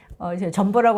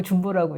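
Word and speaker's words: Jumbo: 있고 페루에도 있고 한데 점보라고 아니고 중보라고 읽습니다 준벌하고 있는데 이제 지금 보니까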